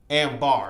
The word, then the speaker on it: Ambar: I think it's Amber or Ambar. Ambar, excuse me.